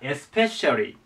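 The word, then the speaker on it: especially: はで次がエスペシャリーねエスペシャリーですねでちょっと長いんですがアクセントここですエスペリていう発音でこれがちょっと変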